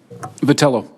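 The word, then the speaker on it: Vitiello: Vitali oh that you would agree ever had pronounced your name correctly patella patella thank you I think you would agree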